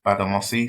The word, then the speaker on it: Gbadamosi: My name is Badamosi. So it's a silent G. So on documents you might see a G before the B.